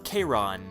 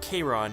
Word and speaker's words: Chiron: of black which is Chiron but although his name is spelled like cheerin yeah I spelled the